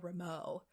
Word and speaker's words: Ramo: Isn't it Ramon? No, it's just Ramo.